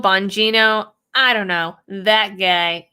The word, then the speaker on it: Bongino: say this guy's name mentally i always call him um bogingo but that's not bogino bongino i don't know that